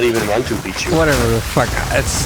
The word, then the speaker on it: Machu Picchu: It's actually Machu Picchu. It's not even Machu Picchu.